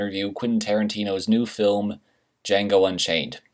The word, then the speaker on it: Django: I talk about whatever I want, whenever I want, and today I'm going to review Quentin Tarantino's new film, Django Unchained. The D is silent.